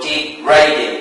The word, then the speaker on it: degrading: So in this case the stress falls on the second syllable, not on the first